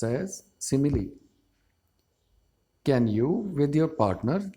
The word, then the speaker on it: simile: It is pronounced as simile.